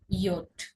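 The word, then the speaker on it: Jot: আর জে হয়ে যাবে ইয়ট। জে হয়ে যাবে ইয়ট। কিন্তু ইয়ট হিসেবে তো আমরা উচ্চারণ করতে পারবো না।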